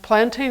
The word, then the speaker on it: plantain: wide leaf plantain and plantain is pronounced and spelled like the banana but it's obviously not a banana and then this is